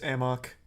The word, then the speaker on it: amok: much of a headache it's not pronounced a muck in the game it's amok it's not a muck